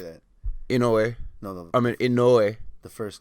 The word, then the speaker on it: Inoue: And his name is Naoya Inoue. How do you say that? Inoue.